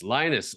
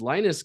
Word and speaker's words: Linus: Linus. Oh, just like in Charlie Brown.